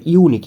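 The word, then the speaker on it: unique: ইজ এখানে ইউনিক, ইউনিকের আগে কী বসবে, এখানে বেসিক্যালি ইউনিক, ইউনিকটা ইউ এর মতো উচ্চারণ হচ্ছে, সেক্ষেত্রে এখানে এ বসবে।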